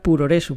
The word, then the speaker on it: puroresu: la digo yo pero tengo entendido que se debería pronunciar como progress no como progress slim pero con el acento japonés no sé si tú